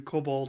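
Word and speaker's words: COBOL: two different routes um you're pronouncing it Cobalt well it it it is cobal that's it's c o b o l it is cobal it's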